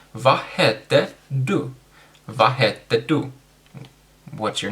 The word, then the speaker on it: du: Sorry, du, not du. Du is a bathroom, so don't say du. It's du.